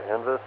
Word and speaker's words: NVIS: If you're getting ready to set up an antenna, HF antenna there, NVIS, or NEVIS, I guess sometimes it's pronounced, that sounds fantastic.